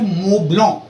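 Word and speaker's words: Montblanc: And then we have मोब्लॉन. ये कुछ French brands हैं जो आप इनको ठीक से प्रोनाउंस करो ना.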